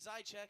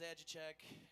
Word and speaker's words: Zychek: Zychek, I can say his name. I can say his name, Zychek on the keys. It's not pronounced Zajichek, and he never hosted Wheel of Fortune.